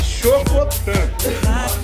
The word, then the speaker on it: chocotan: Galera, a pronúncia correta, em qualquer raça, se o cachorro é chocolate, é chocotan.